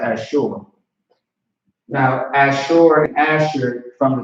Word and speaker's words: Asher: all right sure that's sure not asher but actually that's how you pronounce it as sure now as sure asher